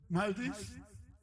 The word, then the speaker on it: Maldives: Wild exports, most of this cow dung to Maldives, that's the pronunciation, Maldives, Vietnam, and United States.